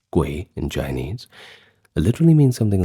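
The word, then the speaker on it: 鬼: Now, you see the word oni in Chinese characters pronounced guay in Chinese literally means something like the hidden one or spirit of the dead.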